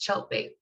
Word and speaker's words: Tjeltveit: Yeah, so to clarify, that crazy letters after my name is pronounced Cheltbait. It rhymes with shark bait, if that helps you remember it. So I'm Cheltbait.